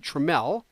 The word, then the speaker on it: Trammell: Her last name is spelled just like Alan Trammell, the great Tiger shortstop of the 1980s, but she pronounced it Trammell.